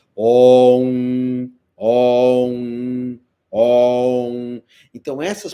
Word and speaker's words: om: Falar que o mantra é on, não é on, é om.